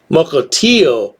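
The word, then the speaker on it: Mukilteo: books and muklitio washington mukultio i pronounced it right mukultio not al it's oh there you go anyway if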